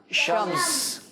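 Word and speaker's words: شمس: अरबी में कहते हैं शम्स शमनम क्या कहते हैं बच्चों शम्स नी आखिरी वाला जो हर्फ है ना उसको हम वफ करके पढ़ेंगे साइलेंट करके पढ़ेंगे तो यह बन जाएगा शम्स बास का नाम भी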